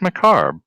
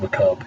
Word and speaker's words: macabre: Oh, that's a nice tie into Dance Macabre. 3 hit. 3 hits, I'm guessing? I'm sorry to be that guy, but it's just macabre. You don't need to pronounce the R.